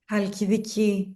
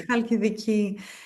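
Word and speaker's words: Halkidiki: And then where you're from, how do you pronounce it? Is it Hal Haladiki? Halidiki. Yes, Hadiki. Okay. Lovely. Is Halidiki.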